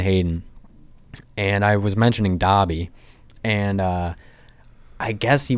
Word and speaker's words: Dobby: what an idiot like he keeps pronouncing dobby it's dobie and she just stares at him she's like you think you're right about that basically and he's like is it not dobie and so when i was